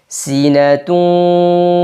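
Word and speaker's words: سِنَةٌ: tetap terjaga tipisnya laua kemudian sinatu Sin kasrah jelaskan si Nun juga na tipis kemudian ta marbutah pada Ta di sini harakatnya datain tanwin tanwin dah bertemu dengan huruf wau ya pada kata wala ketika tanwin bertemu dengan wau maka hukumnya idgham bighhunah sinatun wa tanwinnya dileburkan dan disertai dengan gunah dua harakat la takuduhuat ya sambil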